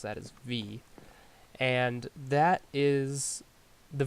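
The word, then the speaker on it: Vis: and it says 50 V that's how you pronounce that is V and that is the V is like the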